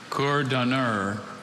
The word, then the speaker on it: coordonneur: Coordonneur. Coordonneur. May I please have any alternate pronunciations?